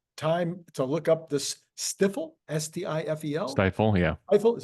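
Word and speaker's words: Stifel: I didn't have time to look up this stiffle stdel stifle yeah stifle is it stifle okay that's a pretty funny name yeah I was figuring they would have pronounced it stiffle because stifle would seem like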